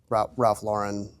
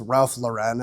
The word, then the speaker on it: Ralph Lauren: So I've always, growing up, kind of, and I was told it was Ralph Lauren as a kid, even though it's not. It's Ralph Lauren. So my whole life I've been saying it wrong.